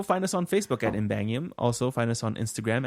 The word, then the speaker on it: Ymbangium: It's just treat the Y as an I and then read it. What do you think? Ymbangium.